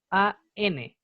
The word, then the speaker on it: an: Es un tema de conveniencia a la hora de pronunciar. Porque si uno no tuviera la N, uno no dijera an, costaría decir así como a Italian sandwich, a umbrella, a American. Sonaría raro, sería como difícil de diferenciar una palabra de la otra.